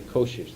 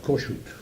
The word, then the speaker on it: Kossuth: Same town, You pronounced that name Kossuth. Huh? Kossuth.